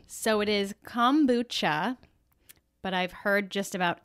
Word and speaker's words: kombucha: never pronounce it right so what's the official pronunciation so it is kombucha but i've heard just about every variation possible